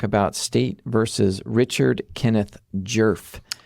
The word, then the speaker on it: Djerf: But in doing the research for this case I learned that that D is silent. It's jerf. Not a lot of vowels. No, she's got the one jerf.